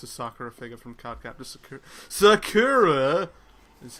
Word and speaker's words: Sakura: was cool it's a Sakura figure from cardcaptness Sakura is how it's supposed to be pronounced thank you thank you I tried I